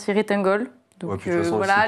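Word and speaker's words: Cirith Ungol: Alors, Ciritangol, parce que en théorie, dans Seigneur des Anneaux, ça se dit Kiritangol, mais il me semble que le groupe le prononce Ciritangol.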